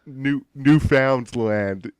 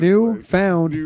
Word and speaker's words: Newfoundland: No, yeah, they Buy, just we're from buy Newfoundland, whatever.